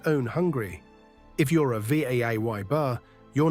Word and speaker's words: Weber: Weber, the weaver. How you say it. Americans say Weber. Germans say Weber. Again, W like a V.